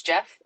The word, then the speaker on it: Jeff: I'm sorry, I pronounced your name, Gio. Would you mind like? I believe it's Jeff.